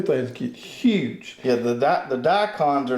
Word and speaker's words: daikon: One of them's called a radish, a daikon. Right. Is that pronounced?